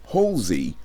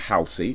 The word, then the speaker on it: Halsey: video and this time it is halsey not healthy because apparently i was pronouncing it wrong halsey with nightmare it's